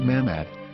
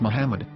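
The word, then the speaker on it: מחמד: after the H according to Ben yehuda's Hebrew English dictionary it is correctly pronounced as Muhammad not mammad so how we're going to know for sure if it's pronounced as Muhammad the Muslim Prophet or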